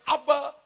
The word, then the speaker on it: Ab: Jadi kalau kita panggil Aba, panggil Bapa, bukan bahasa Indonesia. Benar? Bahasa Aram Mesopotamia, Suria dan Mesir. Sedangkan kata Bapa dari bahasa Ibrani dipakai huruf A dan B, bacanya Ab.